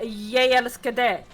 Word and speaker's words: jeg elsker deg: To say I love you in Norwegian, you say jeg elsker deg. But you do not pronounce the J or the G in ye, or you do not pronounce the G in de.